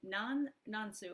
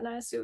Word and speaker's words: Nan Su: And am I pronouncing your name right? Is it Nan Su? Okay, great. Yeah, Nan Su, yeah.